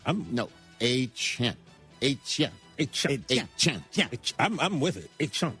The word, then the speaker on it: Etienne: Travis Etienne. No, Etienne.